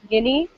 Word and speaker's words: Guinea: long eye so good so guinea so we pronounce the ea like an i almost guinea liberia and sierra leone